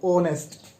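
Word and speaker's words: honest: Consonant है, लेकिन जब हम प्रोनाउंसिएशन करके देखते हैं, बोल के देखते हैं, ओ ऑनेस्ट, ऑनेस्ट, तो ये ओ आपका जो साउंड दे रहा है वो किसकी दे रहा है? आपकी वाउल की साउंड दे रहा है, ऑनेस्ट।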